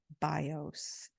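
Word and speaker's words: βιός: is associated with life bios with a different accent on the vowels so it's BIOS with the accent on the o and bios Accent on the eye and said the bow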